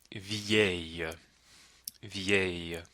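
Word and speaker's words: vieille: it's not a sound it's a y sound so one more time it's which is interesting because the feminine version with the dou l e is v v in French sometimes the Double L will make that Y sound not always though okay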